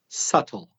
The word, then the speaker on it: subtle: climb to the top another word which has silent letters and is very difficult to pronounce if you do not know it is the word subtle the spelling is as you be T L e so first of all the letter B is silent the B is silent but